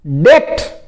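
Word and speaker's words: debt: फिर और देखिए डेप्ट। डेप्ट इसमें भी साइलेंट रहता है।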